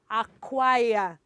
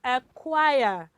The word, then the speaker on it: acquire: Well, do you know that there's a letter here that is silent? Letter C. We don't say acquire. No, it is acquire. Can you repeat that, children? Acquire. Okay, so letter C here is silent.